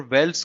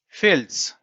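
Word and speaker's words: Veld: और वेल्स का इसलिए दिया गया था कि साउथ अफ्रीका में वेल्स को जो प्रोनाउंस करते हैं वो करते हैं फेल्स, फेल्स।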